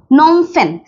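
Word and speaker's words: Phnom Penh: হচ্ছে পি ই এন এইচ এটা হচ্ছে ফেন নোম ফেন নোমফেন মানে হচ্ছে এই যে কম্পোডিয়ার এই রাজধানী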